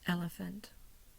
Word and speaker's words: elephant: I underline the a I put the primary stress on the first syllable you'll see the slash at the top front of the E do not see a secondary stress so it's elephant two schwas one of one over each one over the first syllable and one over the last syllable then I have conversation